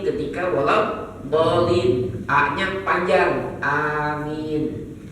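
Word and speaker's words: أمين: Wal doin a-nya panjang amin Maka jangan salah tuh ya bacanya wadin Amin bukan amin amin Anya panjang ya kalau Amin yang aman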